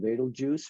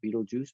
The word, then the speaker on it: Betelgeuse: super giant star called vader juice right up here beetlejuice betelgeuse however you want to pronounce it it is a uh